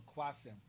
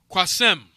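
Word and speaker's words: Qasim: the male given name Arabic pronounced with a long first syllable the meaning is one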